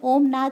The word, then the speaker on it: ॐ: में से निकलने वाली ध्वनि भी ॐ का उच्चारण ही करती है उसमें ओमनाथ ही निकलता है जिससे वैज्ञानिकों द्वारा रिकॉर्ड भी